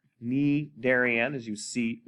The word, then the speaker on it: Cnidarian: a look okay so it's spelled with the c but it's pronounced ne darien knee darian as you see right